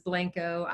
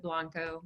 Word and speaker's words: Blanco: it's pecan and then the town of Blanco Texas which everyone pronounces Blanco I think the the narrator's pronounced at Blanco but but you know